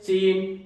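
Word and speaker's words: scene: सी silent होता है। इसको क्या बोलेंगे? SC। देखो दोनों एक साथ मिले, दोनों एक साथ मिले तो क्या बोलेंगे? सीन, Saint, साइंस।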